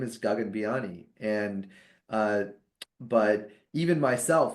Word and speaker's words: Gagan Biyani: And so when I introduce myself, I say Gagan. And I prefer people to say gagen because I realized as a kid and you know this isn't a good thing that happened in the 90s, but people would always mispronounce my name as like gagan or gagen. And I didn't like either of those at all.